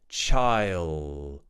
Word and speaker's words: child: yellow for example however in this word we're doing something called a dark L it's basically half an L I want you to press the tip of your tongue against the back of your top teeth child child child child